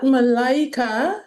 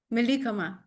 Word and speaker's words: Malika: Um, is that Mallaya? Is that the pronunciation of your name? Malika.